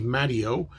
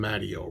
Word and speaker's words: Maddio: this book so uh he pronounces his name I've heard him talk he says hi every doing I'm Steve maddio so I'm going to call him maddio rhymes with patio that's how I'm going